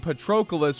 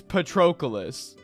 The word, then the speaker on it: Patroclus: when I was a kid, the first time I ever heard the name Patroclus was from Soul Calibur 5 when that blonde asshole showed up.